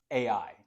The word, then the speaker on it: Ai: to the west of AI just pronounced ai ai to the east